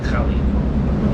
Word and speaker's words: Pkhali: This is called Pkhali, and I guess the proper pronunciation is more like Pkhali. It's a bit of almost like an Arabic sort of sound effect there, which I'm not very good at making.